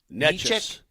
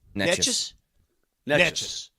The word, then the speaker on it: Nečas: By the way, how do you properly pronounce it? Nečas. Nečas.